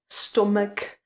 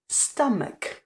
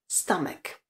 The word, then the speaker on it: stomach: žaludek které se vyslovuje Pokud říkáte něco jako stek tak vás musím zklamat je to š Špatná výslovnost žaludek se řekne anglicky Stamak čili s A stek a pozor na konci je k je tam ša čili ten zvuk e a k stek stomach například after eating